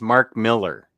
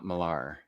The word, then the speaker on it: Millar: And I learned over the weekend it's Mark Miller. Not Millar.